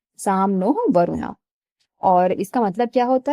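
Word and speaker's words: शं नो वरुणः: द एंबलम ऑफ the Indian navy contain the motto some Noh वरुणा pronounced some नो वरुणा which means B ऑस्ियस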